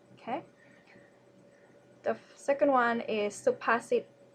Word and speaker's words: สุภาษิต: Okay, the second one is สุภาษิต first syllable low tone, second syllable mid tone, and third syllable low tone. สุภาษิต means proverbs.